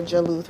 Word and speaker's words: Jalut: And we got Solomon and Taluth and Goliath, or Jaluth, right? You say it like that in Arabic.